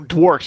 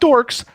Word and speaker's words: dwarks: Which is, no, dwarks. You got to say it right. Not dorks. Dwarks.